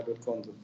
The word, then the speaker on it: Edward Conze: Some people call it Conze, also like Edward Conze. Conze. You pronounce it Edward Conze.